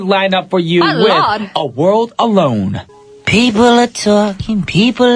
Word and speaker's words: Lorde: I was going to say her name was Royal. Lorde with A I World always Alone. get that mixed up, actually. I'm like, is it Royal or... I did that one time when I wasn't sure who the artist was. I was like, one time I was like, next up we got Royal with Lorde. I said it wrong.